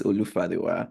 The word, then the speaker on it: Olufadewa: You just pronounce it just the way it is, Olufadewa.